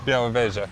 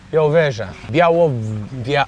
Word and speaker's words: Białowieża: Białowieża. Białowieża.